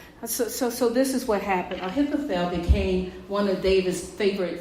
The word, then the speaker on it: Ahithophel: I don't think I even put it up here, but his name is Ahithophel. Ahithopel. Ahithophel. Say that with me. Ahithophel. Ahithophel. Ahithophel. Right? So this is what happened. Ahithophel became one of David's favorite friends.